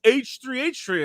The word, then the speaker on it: H3: And then they started laughing, and they're like, "It's not He Productions, it's H3.